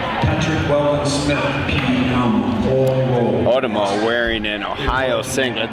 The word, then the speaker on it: Otomo: It's pronounced Otomo.